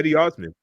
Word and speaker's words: Cedi Osman: Yeah, Cedi Osman. That's how you pronounce that, bro.